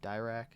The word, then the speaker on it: Dirac: With the advent of quantum physics, the English physicist Paul Dirac, I think is how you say his last name, Dirac, laid a theoretical basis for the idea of antimatter starting in 1928, suggesting the existence of antiparticles.